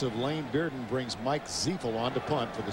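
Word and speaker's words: Ziifle: Mike Ziefel. It's spelled Z-I-I-F-L-E, pronounced Ziefel.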